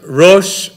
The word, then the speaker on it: ראש: For an example, think about Hebrew three words, Rosh, Rishon, and Reshit, all of which contain a silent aleph, never pronounced, which, in a sense, the aleph represents three different vowels in these three different words, O, E, and A.